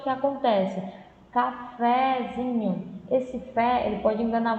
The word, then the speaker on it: cafezinho: Então, por exemplo, cafezinho. Vamos falar, cafezinho. Percebe que o zinho é mais forte, né? Cafezinho, você se prolonga mais, né?